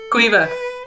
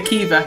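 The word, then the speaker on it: Caoimhe: How do you pronounce that name? Quiva. What a great name. And if you're wrong, you say Kiva.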